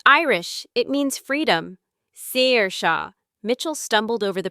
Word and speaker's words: Saoirse: Saoirse, I repeated spelling it out in my head. S A O I R S E. It's Irish. It means freedom. Saoirse.